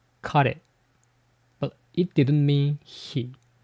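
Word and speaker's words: 彼: Before the 1800s, there was a word pronounced kare.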